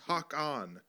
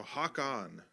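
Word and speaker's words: Håkan: the swedish uh swedish name uh and oh hakan carlson says basically pronounce hawk on thanks buddy so hawk on um elmac says as they pronounce in england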